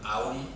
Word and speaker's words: Om: El concepto de ser, eso, el concepto viene de la sílaba aum, que se escribe om, lo habréis visto muchísimas veces, está de moda en todos lados.